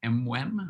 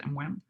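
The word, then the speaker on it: MWEM: exponential mechanism so uh usually pronounced m-wem or sometimes pronounced m1 and then there's another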